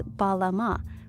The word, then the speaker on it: balam: make it clear that we're meant to read this glyph as balama, minus the echo vowel, so balam.